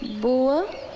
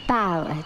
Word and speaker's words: bower: Some of the words, like this word, boa. I know what bow means. It's pronounced bower, dear.